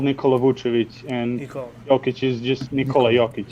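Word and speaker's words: Jokić: Jokic is just Nikola Jokic. So you do say the knee, right? It's Nikola Jokic.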